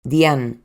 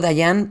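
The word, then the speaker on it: Dean: Dona pronto se hizo una amiga, una compañera de trabajo, Dian. que no dayan porque se escribe d E a n, que también estaba casada.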